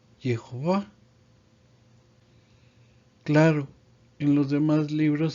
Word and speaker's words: Jehová: Y su nombre se pronuncia Jehová.